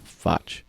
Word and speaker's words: Fotsch: Foch. It kind of rhymes with.